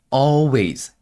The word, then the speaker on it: always: 전에 따라서 좋습니다 자이 always 발음하실 때요 always가 아니라 always 혀가 2000장이 닿으면 안 돼요 어웨이즈 해주시는 겁니다 away 사고 감정을 담아서